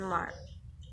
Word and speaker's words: mark: The R in this word is not pronounced at all in the convention pronunciation that is reflected in usual British transcription mark.